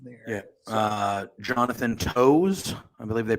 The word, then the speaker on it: Toews: Jonathan Toews, I believe they pronounce it Taves.